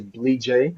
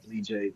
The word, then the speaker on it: Bleejay: Name is Bleejay. I'm glad, so everybody's able to pronounce it and say it the right way. Bleejay. Bleejay is it's a Bassa name from the Bassa tribe in Liberia.